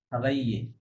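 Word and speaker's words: habiller: Il y a 5 ans, Morgan না, মহগান, মহগান, Morgan Cavell Cavelle খাবাইয়ে, খাবাইয়ে, double L silent, খাবাইয়ে, travailler dans l'acte Cotton Fouet পোহা।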